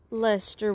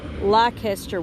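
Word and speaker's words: Leicester: shades of blue face lester wool uh pronounce this um lycaster one time and that apparently i've butchered that because it's not spelled the way it looks um but it is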